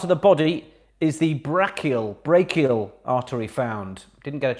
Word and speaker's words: brachial: In which part of the body is the brachial artery found? Didn't get a chance to research the pronunciation of that.